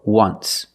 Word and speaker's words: once: Phonetically, it makes the sound w, w, like a W. W, w, once.